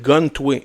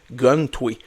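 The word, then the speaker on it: Guhn Twei: Il s'appelle Gun-Tway. G-U-H-N, Tway, T-W-E-I. Gun-Tway. Ça s'écrit bizarre un peu.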